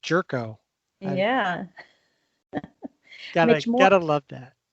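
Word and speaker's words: Gyorko: bench player and he's got a great name g yorko which is pronounced jerko yeah you gotta love that yeah uh mitch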